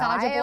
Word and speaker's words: Saja: No, and I'm probably it's probably Soja Boys, and I'm saying it wrong. I really don't know. Saja Boys.